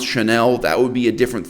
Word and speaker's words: Chanel: of allure hom by channel channel channel it's one of the pleasures of being a woman the fact that he can't pronounce the brand name chanel normally wouldn't bother me